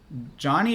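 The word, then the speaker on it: Jony: And then we got Johnny or Joni Ive, depending on how you want to pronounce him.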